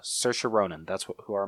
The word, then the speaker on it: Saoirse: do you say her name again I'm sorry Saoirse Saoirse Saoirse Ronan that's what who our money's on yep